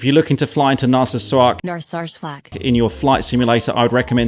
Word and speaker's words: Narsarsuaq: How do you pronounce that actually? Narsarsuaq.